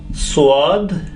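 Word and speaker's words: ص: This pair, swad and dwad, swad and dwad.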